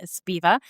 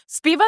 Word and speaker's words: Sbhiva: Sbhiva is a very interesting name as well. What does it mean? Sounds like a chant, right? It does. Viva, Viva. It rhymes with Viva, but Sbhiva is actually a play